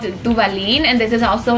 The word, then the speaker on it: Duvalin: Can you pronounce Duvalin? Duvalin? Duvalin!